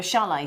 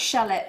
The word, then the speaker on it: chalet: million pounds Scott I could buy you a chalet somewhere in the Alps but no jewelry it's not pronounced shallot no or Challa testing mic now then look